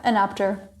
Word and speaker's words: Enapter: Do I pronounce it correctly, Enapter or Enapter? Yeah, Enapter.